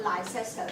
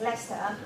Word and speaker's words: Leicester: say it's uh slippery now it's leicester not lycester before i went to uk i pronounced the socialized sector but this is a strange way of realization it's leicester so it's somehow in